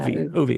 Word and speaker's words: Uwe: And tell me if I'm pronouncing this right, Tracy. Uwe Gerlich? Yeah, Uwe, I would have said. Yeah, Uwe, okay. Gerlich, yeah. He started making this tool